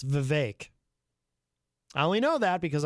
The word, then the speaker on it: Vivek: and by the way that is how you pronounce his name it's Vivek I only know that because I saw him